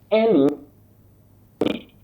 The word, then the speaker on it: lucid: The first word, L-U-C-I-D, a word which is from Latin. You say lucid. Lucid, not lucid, not lucid, and all that.